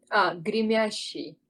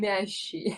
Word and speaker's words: Гремящий: Гремящий. Interesting. Гремящий. Yes, Grimyashi. Okay. exactly. And I'll show you them. So this is Grimyashi or whatever. Okay, So гремящий.